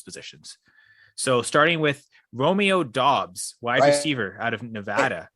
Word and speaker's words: Doubs: It is Doubs, right? It's not Dubas, as I've mistakenly pronounced at times.